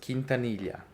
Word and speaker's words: Quintanilla: Uh so nobody my name is pronounced Kintanilia and I guess when I was in the mission I was telling everyone oh you have to say Kintanilia and it's like such a hard way of pronouncing for like English speaking people.